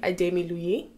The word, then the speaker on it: Ademiluyi: little bit back okay so obviously last name adami Lui am I pronouncing it correctly yes you are awesome tell